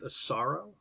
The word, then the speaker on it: Asaro: it up today it's I think it's pronounced a sorrow a s aro and the mud men